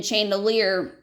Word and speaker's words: chandelier: They're probably going to spell it with an SH, because they are activating prior knowledge that the sh in chandelier sounds, in chandelier makes the SH sound.